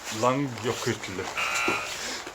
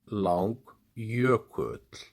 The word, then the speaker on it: Langjökull: Langjökull. That is perfect pronunciation. Langjökull.